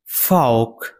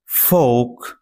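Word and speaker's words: folk: ফাউক ফাউক এর আরেকটি উচ্চারণ হচ্ছে ফোক।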